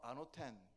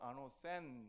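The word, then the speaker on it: ἄνωθεν: 거듭난다는 것은 헬라어로 아노텐 이렇게 말하고요. 영어 발음은 아노센 이렇게 발음합니다.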